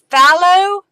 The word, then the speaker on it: phthalo: Pronounced phthalo? Okay, phthalo green.